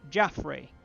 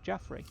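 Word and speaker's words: Jafrez: But I'm pretty sure since they're French that it would be pronounced Jaffrey, which, if that sounds like, hey, that sounds kind of familiar, I'm pretty sure that's because it's the early French or Breton name for Joffrey, as in King Joffrey.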